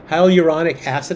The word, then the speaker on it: hyaluronic acid: hyaluronic acid, I think is how you say it.